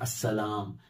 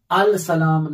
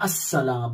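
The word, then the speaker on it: السلام: तो जैसे बताया गया अस्सलाम, अन्नूर, तो अल नूर नहीं है, अल सलाम नहीं है, असल में अस्सलाम है, अन नूर है, क्योंकि वहां हुरूफ शमसी मसला है।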